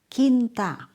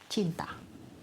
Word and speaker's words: cinta: Kinta instead of cinta.